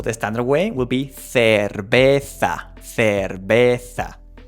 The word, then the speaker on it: cerveza: Also, don't forget that the V in Spanish, it sounds the same way as B.